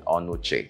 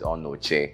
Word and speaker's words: Onochie: the right pronunciation of the name I was pronouncing onuchi then he said he's on Noche and so I hope I'm pronounce it all